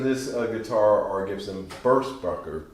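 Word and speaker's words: Burstbucker: guitar or gives them burst bunker 2 and 3. yeah i finally said that right after 20 shows i always say burst booker or something weird i finally pronounced it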